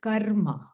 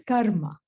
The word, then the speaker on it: karma: The pronunciation is karma, okay? And except when you're having car trouble, then you can say karma. All right, no problem. Then we are allowed to say karma. Otherwise, it's karma.